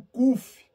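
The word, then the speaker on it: ק: para baixo queridos Ok então o cuf ele tem um som da letra q de queijo q de queijo tá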